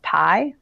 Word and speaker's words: 3.14: And then I'm also on a team called 3.14, pronounced Pi.